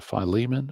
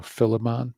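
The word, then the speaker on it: Philemon: Besides these, there's one to Phileiman or or Filimon. I've heard pronounced both ways and one to Titus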